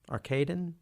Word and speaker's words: Arkadin: welles film mr arkadin arcadine how do you pronounce that arcadin thank you see does my lazy american voice taking out the opportunity to relax around the big ah sound arcade as far as